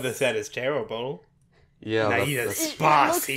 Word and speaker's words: Naida: Naida.